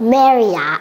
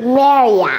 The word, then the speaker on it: Marriott: What do we, Cody, do you know how to pronounce this? I do. All right, let's try it. Marriott. Yeah. Yeah. Marriott.